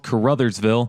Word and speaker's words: Caruthersville: of both towns the first town is called Caruthersville and the second town is pronounced New Madrid both towns are in the